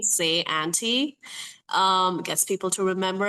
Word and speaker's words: Syante: Um it's s a y a u n t y like phonetically how you would spell say my name. Say auntie.